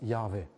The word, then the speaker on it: Jahwe: Gott der Herr steht, steht da im Hebräischen YHWH, meistens ausgesprochen als Jahwe.